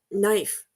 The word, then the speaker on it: knife: our writing system so the silent k in a word like KN or KN um knife uh that is a a little piece of the history of the English language that comes down to